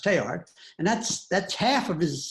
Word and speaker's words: Teilhard: So those of you who don't know this, Teilhard, his name is spelled Teilhard, but it's French, so it's not pronounced Teilhard, it's pronounced Teilhard, and that's half of his second name.